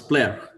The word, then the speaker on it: Plair: Do you pronounce it right? Plair or Plair? Hello, it's Plair.